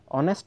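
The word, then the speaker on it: honest: কি বহিব এন বহিব কোন একটা শব্দ জানি কয় অনেস্ট অনেস্ট শব্দটার প্রথম লেটার কি আছে এইচ আছে কিন্তু এটু উচ্চারণ করাতে আমার এইচ এর উচ্চারণ ইয়াত হওয়া নাই অনেস্ট সে কারণে ইয়ার আগত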